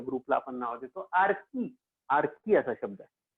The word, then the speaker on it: Archae: आर्की असा शब्द आहे. आर्की, त्याचं स्पेलिंग आर्ची सारखं आहे पण त्याचा उच्चार आहे आर्की.